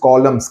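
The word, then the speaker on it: Colme's: Retreated means he went back, disbursed, he went back to cent columns inch. Though it is spelled as C-O-L-M-E apostrophe S, the pronunciation is columns, K-O-L-L-U-M's, and gave us $10,000 for our use.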